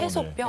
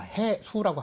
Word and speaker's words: 해수: 해소병이라고 말을 하는데 해소병? 예, 해소병이라고 말하는데 어. 그거는 이제 발음이 약간 잘못됐고요. 자, 해수라고 합니다.